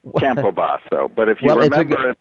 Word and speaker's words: Campobasso: of your last name it's Camp posio no Campo so if you stay with an Italian flare you'll never forget to go Campo or Camp baso but if you remember